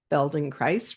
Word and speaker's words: Feldenkrais: Feldon Christ rhymes with paradise and bones for life movement intelligence senior trainer.